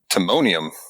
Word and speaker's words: Timonium: Timonium.